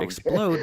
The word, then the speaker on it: explode: What's For instance, that in the word sound? explode, the emphasis is on the second syllable, whereas in syrup, it's on the first.